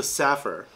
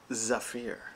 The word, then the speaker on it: Zephyr: Not the Saffir. Zephyr. We just had an internet rabbit hole trying to figure out how to pronounce that. But a German guy on the internet says it is Zephyr.